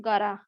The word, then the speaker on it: gotta: गॉट टू, याद रखिएगा, मगर उसे जब प्रोनाउंस करोगे तो आप बोलोगे गारा। और अंग्रेज भी गारा ही बोलता है।